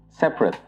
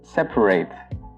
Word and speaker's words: separate: would pronounce it as separate, only 2 syllables. So, for example, the children are sleeping in separate rooms. But if you're using the verb form of this word, it becomes separate, so 3 syllables.